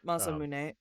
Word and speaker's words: Masamune: Yep, Masamune. They butchered it in the musical, which is why I said it that way.